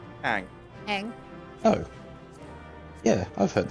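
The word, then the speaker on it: Aang: Ang. Ang. Oh. Yeah, I've heard that. How do you mispronounce Ang? It's 3 letters. Or 4 is Oh, double A, it's isn't 4. it? They'll call him Ong.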